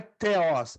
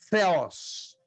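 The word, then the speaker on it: θεός: Não é teos, é theos.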